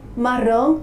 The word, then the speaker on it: marron: La pronunciación es realmente similar al español, pero requiere suavizar un poco la R, ¿bien? Y la nasalización al final se reduce.